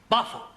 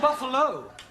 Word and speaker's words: buffalo: a big bull oh Buffalo ter confused yeah words that end you know like Buffalo or radio or vertigo you pronounce the O but when there is no o you don't add one understand yes I give